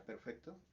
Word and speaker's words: perfect: Por ejemplo, en la palabra perfect, que significa perfecto, y en el verbo to perfect, que la acentuación cambia directamente a la segunda sílaba.